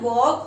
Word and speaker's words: walk: L is silent.